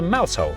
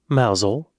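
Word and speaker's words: Mousehole: rampa sham that's Ransom and down to mouse hole mous that works mousel that's like saying mous hole just with different emphasis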